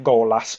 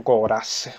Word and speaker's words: Golas: Il secondo avversario che deve affrontare Ken è Golas o Goras, se lo vogliamo pronunciare in giapponese.